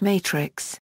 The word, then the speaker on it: Matrics: RICS Matrix in 2003, Matrix is pronounced Matrix, which means network.